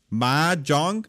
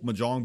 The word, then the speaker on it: Mahjong: uh they're going Southeast ma Jong I believe that it's the stressed syllable the more you know